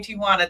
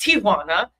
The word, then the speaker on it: Ti'Juana: It's really pronounced Tijuana. Tijuana. If you're from the Spanish culture, but Americans say Tijuana.